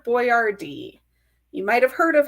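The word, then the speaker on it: Boiardi: named Hector and then if you actually say that phonetically the name is actually Hector boardd you might have heard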